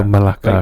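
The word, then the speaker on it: Melaka: Then she's like, "Oh, because in Malaysia it's spelled M E L A K." So Malaka, right?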